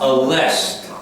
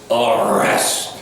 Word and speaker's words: arrest: are this requires practice it's not a less it's arrest you have to work want that pronunciation because it's common great